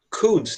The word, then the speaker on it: could: A gente pronuncia como se fosse só um U mesmo, é como se fosse C-U-D. Could. Esse O e esse L é como se eles não têm som, tá? Eles não são pronunciados. A gente fala só could mesmo.